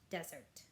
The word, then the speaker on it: Desert: Southwest Harbor is an island called Mount Desert. She pronounced it desert.